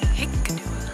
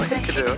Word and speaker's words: Hikkaduwa: We've all been getting it wrong. Hikkaduwa. Not Hikkaduwa. They understand you when you say Hikkaduwa.